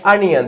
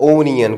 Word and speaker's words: onion: उसके बाद क्या है, अनियन, this is called अनियन, नॉट ओनियन। कई लोग इसको ओनियन बोलते हैं, दिस साउंड्स बैड।